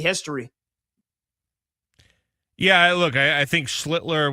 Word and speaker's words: Schlittler: Yeah, look, I think Schlittler without the L is the way to pronounce that name.